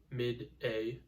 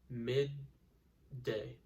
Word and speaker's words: midday: again we don't say mid a and we don't say mid day we say mid day now if you try